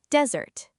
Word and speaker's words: desert: The stress is on the first syllable and it sounds shorter, desert.